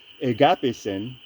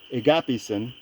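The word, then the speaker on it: ἠγάπησεν: But here in agapisen, which is he loved, God loved, agapisen, we have to pronounce it E, because it's eta in Koine Greek.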